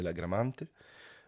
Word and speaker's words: la Gramante: domaine de la gramante alors prononciation en italien de la gramante euh 5 hectares2 officiellement